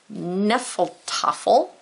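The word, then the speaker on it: Hnefatafl: Then we have this weird word over here, Nephal Tuffle. We'll talk about that. Nephal Tuffle, H is silent.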